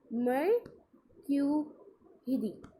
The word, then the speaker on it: mercredi: Okay, और जब अपन बोलते हैं जैसे प्रोनाउंसिएशन करते हैं फ्रेंच में तो उसे कहते हैं मर्क्यूरिदी.